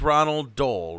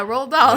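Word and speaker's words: Roald Dahl: what is his name oh is iton it's Ronald Dole Ronald do Ronald r r doll yeah roll doll I I can never say his name I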